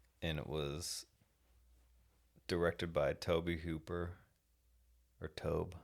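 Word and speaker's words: Tobe: And it was directed by Toby Hooper or Tob. I don't know how you say his name. Toby. It's T O B E.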